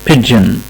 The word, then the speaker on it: pigeon: pigeon pigeon، يبقى هنا ال P اتنطقت زي ما هي، ال I قصيرة، ال G اتنطق D و J مع بعض pidge، وال E وال O اتنطق I pigeon pigeon.